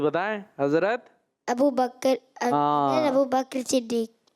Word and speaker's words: ابو بکر صدیق: حضرت ابو بکر، حضرت ابو بکر صدیق۔ قاف بھی ساکن ہے، تھوڑا مشکل ہے، ابو بکر۔ بہرحال بات تو وہی